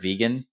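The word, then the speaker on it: Vigen: It's vegan, like vegan, doesn't eat meat or dairy."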